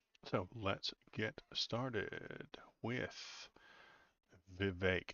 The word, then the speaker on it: Vivek: let's get started with Vivek it rhymes with cake that's the way he said it he said he came up with that not me Vivek it rhymes with cake